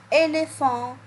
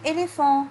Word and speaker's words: éléphant: Deuxième mot, un éléphant. On a dit le PH se prononce quoi? Se prononce F. Donc oui, ici dans le mot un éléphant, j'entends le son F.